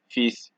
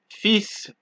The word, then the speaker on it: fils: However, there are a few exceptions, just a few, such as sud, cap, slip, fils, bus, brut, ouest, huit.